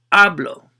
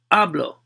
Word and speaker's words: hablo: how you pronounce it how you accentuate it with the stress right it's hablo so the first syllable second syllable work backwards counting syllables so second syllable is hablo so you're gonna stress or accentuate that one when you say it when you pronounce it so hablo hablo your